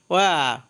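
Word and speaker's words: wear: ওয়্যার অর্থ পরিধান করা, এখানে ওয়্যারের লাস্টে আর থাকার কারণে আর এর উচ্চারণ হবে না।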